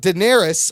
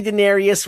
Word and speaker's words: Daenerys: and then the thing breaks let's talk about Daenerys I said it right thanks to the hollow yeah yeah you didn't correctly listen I don't correct you when you say Denarius wrong he says darksied I just don't I